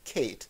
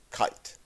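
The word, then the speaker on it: קייט: It is spelled as if it were pronounced Kate, but in almost all of the Yiddish dialects, it is pronounced kite.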